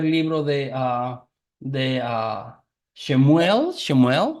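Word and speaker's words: שמואל: de ah de shemuel shemuel no se dice en hebreo shemuel no Y así se escribe shemuel no Y tenemos shemuel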